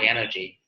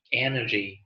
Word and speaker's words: energy: It is because they are cognitively complex and require mental energy. Energy, đó không phải là energy. Chúng ta sẽ không thêm dấu hỏi vào trọng âm nhé, mà chúng ta thêm dấu sắc energy, mental, required.